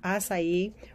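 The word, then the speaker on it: açaí: So here you have an acai bowl. So you know that the acai, or some people pronounce it acai, is a berry, one of the richest in antioxidants.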